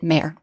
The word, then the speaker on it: mr: This sign represents the sounds of M and R. In modern times, we pronounced it mer.